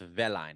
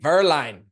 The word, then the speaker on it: Werlein: sounds European German it's pronounced in German it's pronounced verine Verline yeah Verline yeah nice very cool all right